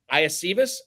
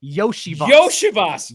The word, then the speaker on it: Iosivas: So it's actually Andre Yoshivas.